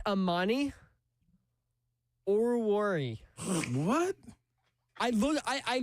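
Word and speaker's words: Amani Oruwariye: It's Ammani Oruri. What? I look I I looked up a a game pronunciation like of a highlight.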